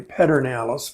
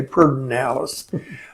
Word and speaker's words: Pedernales: miles down river on the perdón Alice it's pronounced really Pedernales but if your texts and you say perdón Alice three miles from Fredericksburg and in between the